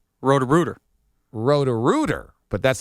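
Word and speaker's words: Roto-Rooter: Is it rotor-router? Rotor-rooter. Rotor-rooter, but that's not spelled like Rotor-router.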